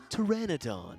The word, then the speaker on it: Pteranodon: what the heck is ramper hold on Whirlwind Pteranodon you actually said it right for the first